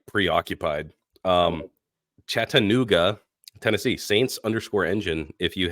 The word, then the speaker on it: Chattanooga: say how' I say you just put like a lot of syllables in there you're like chat anoa dude I'm seriously like